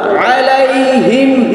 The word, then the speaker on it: عليهم: আও সালা وأرسل عليهم কেউ বলবা না عليهم হলকের মধ্যখানে হইতে আইন হ্যাঁ عليهم وأرسل عليهم طيرا তানা ত কি হবে طيرا أبابيل وأرسل عليهم طيرا أبابيل